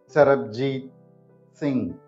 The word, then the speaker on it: Sarabjeet Singh: this is how we pronounce the name sarab J Singh sarabjit Singh repeating it slowly now sarab Singh presenting the